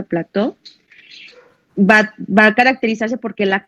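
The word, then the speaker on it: plateau: Este tipo de iris o iris plateu, se pronuncia plateu, va a caracterizarse porque la cámara anterior central va a ser normal, va a ser amplia, como describe Hasibe, ¿sí?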